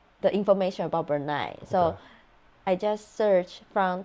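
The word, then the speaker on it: Brunei: have a lot of oil oh wow it's pronounced bernai bernai check it b r n i n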